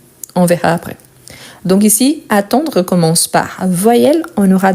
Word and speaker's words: attend: Donc, j'attends, tu attends. Il, elle, on attend. Donc ici, c'est avec D. Je vous rappelle toujours, on ne le prononce pas.